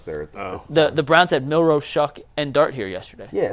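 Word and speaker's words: Shough: The 5 we know, Ward, Sanders, Tyler Shuck, who I said it right, shout out me, Jalen Milroe, and now Jaxson Dart.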